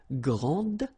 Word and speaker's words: grande: And regarding the feminine form, you will pronounce it grande. Okay, don't insist on the final but then pronounce this D, grande, and then exactly the same pronunciation, grande.